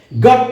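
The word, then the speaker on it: gotta: তো গট টু দুটো শব্দকে সংক্ষেপে উচ্চারণ করা হচ্ছে গটা।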